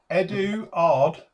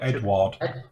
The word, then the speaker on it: Eduard: Apparently they're saying, I say Eduard because Ed-ard is the English way with a silent U. Yeah, you don't pronounce the U, do you? No. But some people call it Edward.